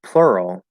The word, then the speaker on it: plural: help me ah interesting according to the dictionary the the letter u in plural is a high schwa um okay it's because there's it's a high schwa plus plus the r color schwa which is something that I do not teach and I think is confusing and pointless because it doesn't make any sense so ignore that yes simply ER the ER vowel sound this is another reason